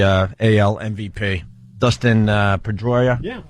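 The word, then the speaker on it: Pedroia: Dustin uh Pedroya.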